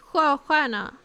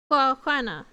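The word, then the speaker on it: sjöstjärna: Swedish, and it's pronounced 𝗙𝗏𝗏. 𝗙𝗏𝗏. 𝗙𝗏𝗏. I know it's a bit funky because SJ becomes a hissing noise, and STJ becomes also a hissing noise.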